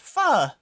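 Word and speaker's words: pho: Oh, this is fo. Easy, right? Um, actually, streamer, it's pronounced fu.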